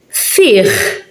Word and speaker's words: fih: Fih. It's at the end. Fih. So it's not silent.